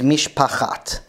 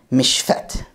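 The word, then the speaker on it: משפחת: from this reading is what is pronounced in modern Hebrew is Mishpachat, family of Mishpachat. But in Ovadia Tzedaka's reading, it's actually Meshfet. And that is because the chet has completely disappeared, and all we are left with is an empty letter, so it's just mishfet instead of mishpachat.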